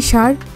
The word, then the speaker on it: স্যার: আছে মনি বলে জি স্যার আচ্ছা আবির মনে মনে বলে এখন আসছিস লাইনে আমাকে চাপে রেখে কথা শোনানো আবির বলে সার না ওটার উচ্চারণ হবে স্যার অন্যদিকে মাহিরা নামাজ পড়ছে